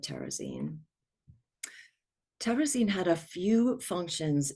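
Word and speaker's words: Terezín: in German it's called terraine in Czech and I will often call it terrazine because the Czech speaking survivors that we worked with mostly call it terraine terine had a few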